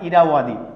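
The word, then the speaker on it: Irrawaddy: তো ইরাবতীকে ইংলিশে উচ্চারণ হয় ইরাওয়াদি।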